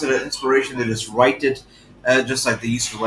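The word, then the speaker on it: IInspiration: suit products of inspiration so they do still pronounce it inspiration they just write it just like they used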